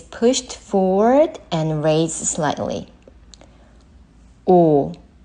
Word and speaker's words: 우: And the next vowel, U. U. U. U is like the vowel in mu, but it should be shorter than that.